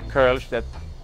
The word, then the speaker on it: Kölsch: Is that how the Kolsch came to be? Yeah, absolutely. We had started brewing the Kölsch, which is how they pronounce it there with the umlaut, and then we knew